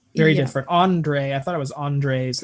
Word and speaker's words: Andres: Andre, At least on yeah. Spotify, yeah. It is spelled Andres, but they pronounce it Andre.